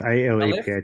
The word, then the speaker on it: Aleph: And Michael Barnett is a long-time co-convener of ALF, and I probably didn't pronounce that correct, so please correct me, Michael. ALF Melbourne. Aleph, A-L-E-P-H, Aleph Aleph, Melbourne, Melbourne.